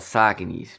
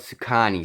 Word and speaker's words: Saucony: what they gonna say these are called sake knees please pronounce them correctly they're not called sacani see I don't know why